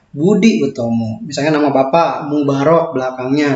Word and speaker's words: Boedi Oetomo: Nah, ya, itu merupakan ejaan lama, bahwa huruf U dulu tulisannya adalah OE. Ya, Boedi Oetomo itu bacaannya adalah Budi Utomo.